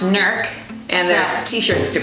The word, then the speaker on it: Newark: Newark, Ohio, but we hear that it's pronounced Newark.